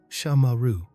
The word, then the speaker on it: Shamaru: Shamaru. Three syllables. Soft serpent-like. This sound was once used